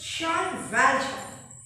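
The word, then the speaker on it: Jean Valjean: see philosophy jean vengeance it to be pronounced as sean valjean this pronunciation part and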